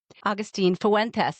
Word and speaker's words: Agustín Fuentes: Augustine Fuentes, did I say it right?